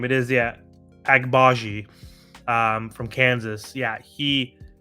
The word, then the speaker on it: Agbaji: how to say his name it is yeah agbaji um from Kansas yeah he just went up